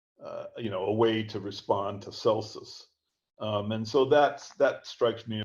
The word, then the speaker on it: Celsus: Okay, now I wanted to touch on Contra Celsus, or Celsus, as people might pronounce that name.